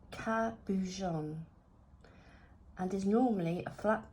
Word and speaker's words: cabochon: is a cabochon Capuchin is a word of French origin pronounced cabujon and is normally a